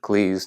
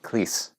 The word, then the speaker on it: Cleese: And yes, he pronounces it Cleese, not Cleese.